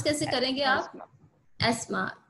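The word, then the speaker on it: asthma: एस्मा. टीएच को ना silent. हाँ जी, एस्मा. इसको टीएच को आप साइलेंट मोड में रखोगे.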